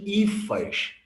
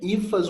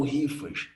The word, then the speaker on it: hifas: filamentos em chama de ifaith horrível a pronúncia acho que a pronúncia tanto toma conta outra a correta é hifas ou rifas tá essas rifas elas